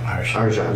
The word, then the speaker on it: Arjhan: Arshan. Arshan.